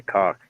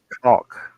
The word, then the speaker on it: caulk: Yeah, I only recently realized or found out that I was pronouncing that incorrectly. Caulk. Cough. There's an L Caulk. in there, and it should be pronounced.